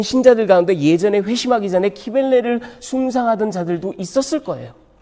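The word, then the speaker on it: Cybele: 키벨레 신. 예, 미국 사람들은 시빌 그렇게 얘기하는데 발음이 영 듣기 거북하죠. 그래서 그냥 키벨레, 우리말로. 그 키벨레라는 여신은 말하자면 그 모든 풍요와 이 소산과 물질적인 축복과 이런 거를 주관하는 신이에요.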